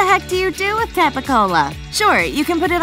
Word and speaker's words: capicola: chords or your mouth the hard c in capicola became a g p shifted to a b o got elongated to ooh and like in so many other words the last vowel disappeared i will have to